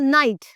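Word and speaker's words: knight: Trick in which again when के एंड एन R together the के become silent so it always takes the sound of एंड for example knowledge for example नाइट द नाइट।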